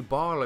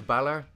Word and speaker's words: Bálor: be like no that it's clearly Barlow you're not pronouncing the father on da where is the father labs and of course obviously EE ain't gonna pay - - this kind of stuff but as an Irishman it's like oh god no now the original guy's name was Balor use that all you